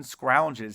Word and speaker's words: scrounge: The owl sound is spelled O-U.